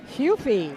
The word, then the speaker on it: Hufe: Team Virginia versus Team I'm assuming it's pronounced Huff anybody want to correct me goofy hufy thank you Jamie's back just a